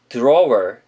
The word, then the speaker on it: drawer: 자, 다음 단어는 서랍이라는 뜻을 가진 drawer 이란 단어입니다. drawer 이렇게 좀 어색하게 발음을 한다기보단 주 발음하면서 하면 조금 더 편하게 R 사운드와 연결시켜서 발음하실 수가 있습니다.